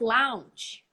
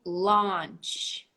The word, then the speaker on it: launch: you launch new projects you don't Lounge you don't launch you launch so let's relax the lip again the Au here launch repeat launch oh side